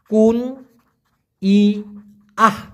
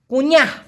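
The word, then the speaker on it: kunyah: এন ওয়াই এ এইচ উচ্চারণটা হবে কুন ই আহ কুনিহ কুইনা কুইনা আর কামড়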